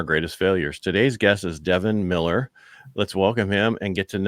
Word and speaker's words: Devin: Yeah, it's one of those where it's spelled anywhere from Devin to On to An and everything in between. And I'm just like, nope, it just is Devin like it looks.